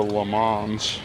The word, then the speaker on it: Le Mans: Say it like the French. In America, it's the Le Mans, but in France, it's the Le Mans. It's like very fancy.